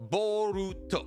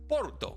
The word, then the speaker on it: Boruto: name Boro is actually based off how Japanese people pronounce the English word bolt as in lightning bolt or the electric dog because Japanese people pronounce the English word for bolt boruto or if you say